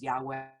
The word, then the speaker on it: Yahweh: Though we pronounce these letters, known as the Tetragrammaton, as Adonai, the word really consists of four vowel-like sounds, sometimes pronounced by non-Jews as Yahweh or Jehovah.